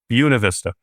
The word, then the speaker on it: Buena Vista: to actually write a little note to myself here on the side to remind myself it's like Buick. Buena Vista.